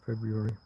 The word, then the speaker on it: February: Most people don't pronounce the first R in February. And if someone does, it sounds a little bit like they're deliberately trying to be posh.